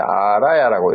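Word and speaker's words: ālaya: 뭐 이거는 창고라는 뜻이고 이거를 어떻게 읽었나 하면 아레아로 읽으면서 이걸 아를 길게 했어요. 아라야라고 읽어가지고 집이나 장소 저장소로 해석을 하고 아라야 비나야를 위즈나나를 장식이라고 했고 이거를 한자로 장자 대신에 택자를 써서 택식이라도 이렇게 불렀어요.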